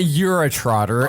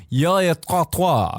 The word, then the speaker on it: urotrottoir: It's not Eurotrotter. I don't know. It's Eurotrottoir. Eurotrottoir. But it's not the Euro. It's not the fucking Eurotrotter. That's what it is. It's pronounced Eurotrottoir, because it's like abattoir.